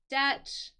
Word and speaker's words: debt: in Deb uh and notice that I didn't pronounce the b in this word the B is silent it is just like debt not Dept Just DE